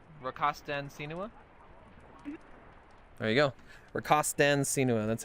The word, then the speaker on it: rakastan sinua: Rakastan Sinua.